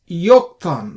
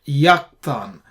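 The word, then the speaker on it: יָקְטָן: not call Co and we pronounce this as yokan not yakan you see this we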